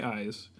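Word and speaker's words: IZ: So I will share my idea for Crush on You by Eyes. I keep saying it. I-Z. I-Z. Eyes. Pronounced eyes.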